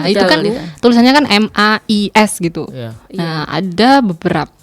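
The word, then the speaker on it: maïs: Tapi kalau jagung itu AI-nya dibaca dan S-nya juga dibaca mais gitu.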